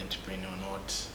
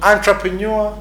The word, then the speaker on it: entrepreneur: It's a French word. So it becomes difficult to pronounce it. To pronounce it, because when you pronounce it in English, it's entrepreneur. It's entrepreneur. Entrepreneur Entrepreneur. in French.